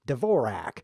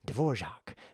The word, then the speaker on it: Dvorak: what they do is they think Dvorak which they shouldn't think they should think Dvorak because that's the correct pronunciation of the famous composer who isn't the guy